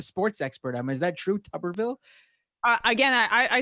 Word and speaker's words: Tuberville: much as reading it i didn't know it was uh pronounced tupperville um you're the sports expert is that true tuberville again i i said